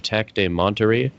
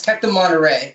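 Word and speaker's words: Tec de Monterrey: politics and international relations at the university of tech de monterey mexico am i pronouncing that right uh it's tech to monterey and actually i'm going to whitman college in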